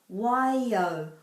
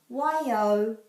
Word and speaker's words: Waiau: So you could say Waiau, but it will always turn into Y and then O. AU is always pronounced O. Waiau, Waiau pa, Waiau pa.